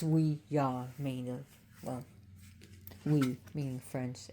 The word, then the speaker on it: Ouija: So Ouija means, which is actually pronounced, it's called Ouija, but it's we-ya, meaning, well, we meaning French, and ya.